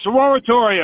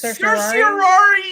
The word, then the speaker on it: certiorari: is going to take certiorari from your dumbass. Hey, that'll be the day. That's exactly what I'm about to file for. A sororatory or whatever you say it. Oh, it's certiorari, you dumb shit.